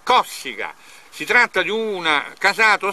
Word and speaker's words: Cossiga: una cosa allucinante Allora nonostante gli fosse comunemente chiamato Cossiga con la la cente sulla u la pronuncia originaria del conome è Cossiga si tratta di una